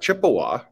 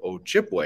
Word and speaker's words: Ojibwe: In fact, Chippewa, it's really a mispronunciation of Ojibwe. It's trying to say Ojibwe in English.